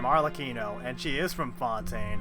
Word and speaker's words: Arlecchino: So that's how you pronounce her name, Arlecchino, and she is from Fontaine.